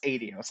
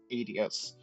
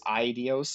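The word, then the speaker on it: Aidios: the goddess known as adios yes it is pronounced adios I've gone around every uh vers of pronunciation and both the Japanese and the English pronounced adios when initially playing the first set of games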